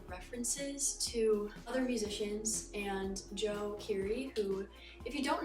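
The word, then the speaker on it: Djo: Krux by Joe, or if you call him DJ, totally acceptable. I just found out like late 2024 that it's pronounced Joe.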